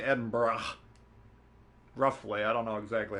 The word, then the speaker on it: Edinburgh: I went to Edinboro that's how I pronounce it Edinboro neden borough but you have to take out the second o sound right so it's just Edinburgh I've actually part Scottish here